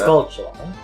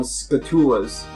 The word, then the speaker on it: Skulltula: Skulltula. Okay. Why? Just checking how you pronounce it. Well, it's a tarantula. Uh-huh. So why wouldn't it be a skulltula? Yep. It's just, I've heard people call them scatulas.